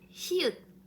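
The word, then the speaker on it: 히읗: Alors, dernière consonne d'aujourd'hui, c'est hyut. Hyut. C'est comme H. Mais faites attention, en coréen, on prononce toujours cette H.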